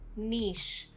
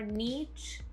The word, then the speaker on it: niche: Word 26, niche. Not niece or niche, niche.